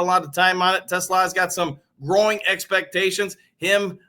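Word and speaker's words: TeSlaa: Only thing is, I've listened to the kid say his own name a gajillion times. It sure sounds like he says Tesla to me, so that's what I'm going with.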